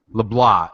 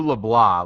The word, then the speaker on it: LeBlanc: LeBlanc. It was Drew LeBlanc. Like the C is silent.